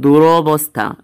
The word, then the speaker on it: দুরবস্থা: তো এখানে দুরবস্থা এর উচ্চারণ হবে দুরবস্থা, অন্তঃস্থের সাথে আকারটা উঠে যাবে।